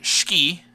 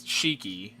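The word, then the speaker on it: Shiki: crew our tsundere Scooby as I call her ski as they pronounce it in Japanese which always throws me off because it's cheeky as I would read it but whenever I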